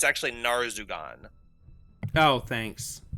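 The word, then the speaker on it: Narzugon: He was turned into a fallen paladin, and it is actually called, you were pronouncing it Nazrugan. It's actually Narzugan. Oh, thanks. The R is before the Z, so I caught that one.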